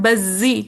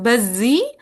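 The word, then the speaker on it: البزي: अब इनके दो शागिर्द हैं बज्जी, ठीक है, बाकी जबर के साथ है बज्जी, और कुम्बुल, ठीक है, काफ पे भी पेश और बा पे भी पेश, कुम्बुल।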